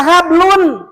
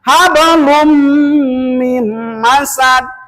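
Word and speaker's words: حبل من مسد: Terus jangan dibaca hablun. Kenapa? Sebab ada tanwin domah ke depan ada huruf mim. Menurut ilmu tajwid adalah idam. Maka membacanya hablum mim masad di surat apa?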